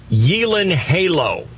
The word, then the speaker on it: Gyllenhaal: have said gyllenhaal too so gyllenhaal are you ready to hear this you're not going to believe me you'll think i made this one that is jake yelan halo nuh-uh oh my god